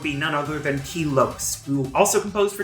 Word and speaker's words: Lopes: none other than key Lopes who also composed for 2 HD as well as their mobile game major magnet and yeah it's apparently pronounced Lopes like soaps or hopes not Lopez I don't have much